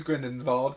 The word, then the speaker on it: Grindelwald: Well, it depends on who you say. If Who said Dumbledore it? says it, there's the V. If everybody else says it, it's a W. Yeah, maybe that's a throwback to that Voldemort. Well, it probably is a throwback to their dumbass Americans and the one who's educated to know maybe what a German name would be.